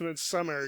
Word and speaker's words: Midsommar: My gravestone will say, it's pronounced Midsummer, you jackass.